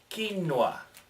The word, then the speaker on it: quinoa: change the pronunciation of quinoa. No, it's not Spanish. No, it's not English. So pronounce it like they do.